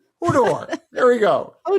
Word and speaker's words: Hodor: It's hold the door. So, it's Hodor. It's not Hordor. I think it's where you put the R is really important in this one. Hodor.